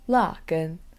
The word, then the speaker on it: 辣根: So let's go over the pronunciations of horseradish. In Chinese, it's 辣根.